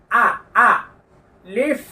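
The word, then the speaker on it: ألف: কোন চিহ্ন দেওয়া রয়েছে মুখের খোলা জায়গা থেকে উচ্চারিত হবে এই হরফটির নাম হলো আলিফ আ লিফ আলিফ শেষে নিচের ঠোঁটের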